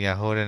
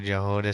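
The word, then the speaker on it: Jahoda: It's pronounced actually Yahoda, not Jehoda, said Tarina.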